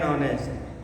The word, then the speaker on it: honest: অ্যান্ড is used before consonant, and ব্যবহার হয় কনসোনেন্টের পর ই, the first H of word is silent, an hour, an honest, an honorable.